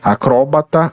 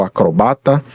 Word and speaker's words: acrobata: no último grupo aqui palavras que eh admitem dupla pronúncia não é então nós podemos dizer acróbata ou acrobata alopata ou alopata Ambrósia ou